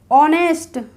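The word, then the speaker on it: honest: नहीं पढ़ेंगे आवर पढ़ेंगे ऑनेस्ट ओ से पहले एच आया तो इसको नेस्ट नहीं बोलेंगे ऑनेस्ट बोलेंगे फ्रेंड्स इसकी मैंने एक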